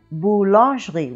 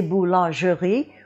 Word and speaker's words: boulangerie: part of the word we have this E here, which is a mute E. And mute E's very normally get dropped in French. We have that same situation with boulangerie, which is the baker's shop. We don't say boulangerie, we say boulangerie, and that mute E is dropped.